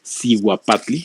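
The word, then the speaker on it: cihuapatli: se llama el zoapatle que zoapatle es un una pronunciación hispana una degradación del nahuatl que quiere decir siu patli que realmente naguatl zat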